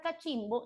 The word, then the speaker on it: cachimbo: Pero la palabra cachimbo lleva la mayor fuerza de voz, la sílaba tónica, en la penúltima sílaba.